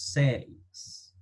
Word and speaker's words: says: Ahora, la pronunciación de esta palabra, no decimos la letra I, decimos says.